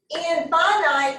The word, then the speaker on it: infinite: a finite set and that looks like it's in finite but it's pronounced infinite all right a finite